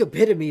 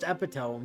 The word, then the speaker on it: epitome: beauty epitome yes you know I've heard it pronounced both ways actually really yeah I I think epitome is correct but like I have I have also heard a pronounced epome yeah huh the kiss is warm enough to